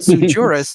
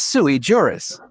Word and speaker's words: sui juris: It's not sujurus. It's sui juris.